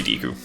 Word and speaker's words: Deku: And yes, I know it's meant to be pronounced Deku, but it's totally deu.